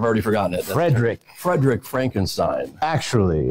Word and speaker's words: Frankenstein: your character I've already forgotten it Fredick Frederick Frankenstein actually it's pronounced Frankenstein pardon me pardon me I stand corrected and